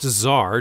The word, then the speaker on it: Tsar: It's also pronounced Tsar to us mere mortals, but for some reason features a silent T before its name.